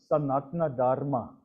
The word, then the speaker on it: Sanatana Dharma: Another word in Sanskrit where the A is swallowed up is the term Sanatana Dharma, the eternal path. It's spelled as Sanatana, but it's pronounced as Sanatana. It's just the eccentricities of the language.